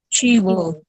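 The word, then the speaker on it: Qi Bo: Who is, how do you pronounce Chibo? Chibo.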